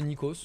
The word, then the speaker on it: Nikos: Si vous voulez voir, les amis, les aventures de Nikos sur Twitch, bah, c'est Nikos, comme ça se prononce, N-I-K-O-S.